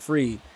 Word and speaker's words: Fried: I'm pretty sure that's how you say it, Fried.